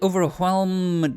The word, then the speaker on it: overwhelm: However, one thing I have remarked, and Innsbruck is the perfect example of this, we can certainly overwhelm Germany, and yes, I did pronounce the H in overwhelm, because it's funny.